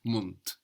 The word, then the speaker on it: Mund: But the D being on the end of the syllable is being pronounced hard. Mund.